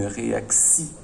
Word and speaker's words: réaction: Alors, je vois bien TI et quand j'entends une réaction, j'entends bien le si.